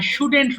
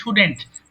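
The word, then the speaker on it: shouldn't: আই শুডেন্ট right, এটা উচ্চারণ হবে কি শুডেন্ট, ভুল করে শুডন্ট বলবেন না, শুডেন্ট, আই শুডেন্ট রাইট।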